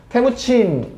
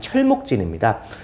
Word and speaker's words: 테무친: 테무친, 칭기스칸의 이름이고요. 칭기스칸은 위대한 칸은 지도자니까 위대한 지도자라는 뜻이고요. 본명은 테무친. 우리식으로 발음하면 철목진입니다.